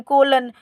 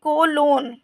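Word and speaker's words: colon: आपका सीओ ओ एन कोलन इसको बोलेंगे कोलोन इसको कोलन नहीं बोलेंगे इसको भी बोलेंगे कोलोन नेक्स्ट है आपका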